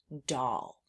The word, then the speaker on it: doll: This is the word doll. D-O-O spells doll. And that's kind of an unexpected thing that's happening with that O sound and the A sound and how we're learning these letters.